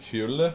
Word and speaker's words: Hole: Which apparently in Norwegian is pronounced like Hule, but they don't pronounce it that way in the movie.